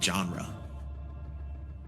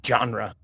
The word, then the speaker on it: genre: pronounce it World premiere it's soft it's soft J it's not jeans it's like Zha genre and he said it